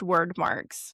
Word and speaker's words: Wyrdmarks: Well, you've got and the the weird marks that you keep saying, they are pronounced word marks.